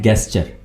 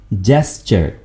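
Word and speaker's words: gesture: आमतौर पर दोस्त इसको गलत प्रोनाउंस करते हैं, बोलते हैं गेस्चर, यानी ये साउंड देते हैं गेस्चर, जो कि बिल्कुल गलत है। सही लफ्ज क्या है, सही कैसे बोलेंगे? जेस्चर, जीम है यहां पर, ठीक है?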